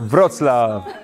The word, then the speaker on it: Wrocław: Because, yes, you know, last time we helped you with pronunciation of Wrocław. Wrocław. And the 16th in Wrocław. Wrocław. Wrocław.